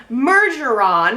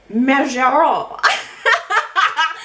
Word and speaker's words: Mergeron: She is in France, home of Dina Mergeron, as we call it here in the U.S. But Marianne was giving me a little bit of a French lesson, saying that in France, Dina's last name would be pronounced Mergeron.